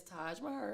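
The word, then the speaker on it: Taj Maher: Like, no, it's Taj Mahar. It's very simple. Like, it's Taj just Mahar. like it's spelled.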